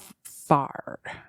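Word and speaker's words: fired: You're gonna say fard. Spell it.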